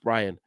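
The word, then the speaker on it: Bryan: the the end product buan has killed us or Brian sorry I think it's pronounced Brian the end product is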